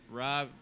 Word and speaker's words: RO66: Rob. My name's Rob. It's spelled RO66 though. So like instead of two B's, it's two sixes.